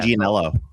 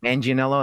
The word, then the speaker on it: Manganiello: Manganiello. Manganiello, that's how you say it?